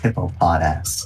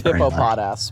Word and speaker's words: Hippopotas: you on one thing you've horribly mispronounced something you said but it's it's a hippopotas it is hippo pod ass my apologies and that